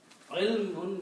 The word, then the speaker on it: ilmun: Ilm that we say is actual word is ilmun is knowledge. Ilmun means knowledge. If you stop, we say ilm. But the actual word is ilmun.